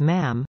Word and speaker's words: ma'am: majesty and thereafter as ma'am pronounced with a short uh as in Jam from the 21st of